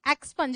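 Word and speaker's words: expunge: ये एक्सपंज, इसका प्रोनाउंसिएशन सही करोगे ना, क्या, एक्सपंज।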